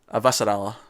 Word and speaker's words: Avasarala: With I'll say her name right, Avasarala.